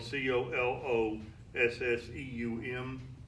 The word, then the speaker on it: Colosseum: Colosseum got its name and collosseum is spelled co l o SS e um we pronounce it Colosseum CEO L o SS e